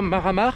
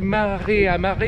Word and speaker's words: Mare a Mare: Tout d'abord, ce qu'il faut dire, c'est qu'il y a trois maramar. Alors, ça s'écrit maré à maré, mais ça se prononce maramar.